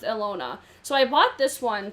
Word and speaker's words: Ilona: n o a i-l-o-n-a i think it's pronounced alona so i bought this